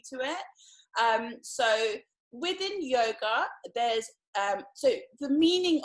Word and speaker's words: yoga: begin by just explaining a little bit about yoga for those of you who are new to it um so within yoga there's um so the meaning of yoga or